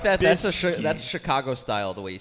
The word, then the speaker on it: Trubisky: was It's like- Trubisky. How It's many names have you I don't messed care up what today? his It's not name is. Trubinsky. Actually, it's I like that. That's Trubisky.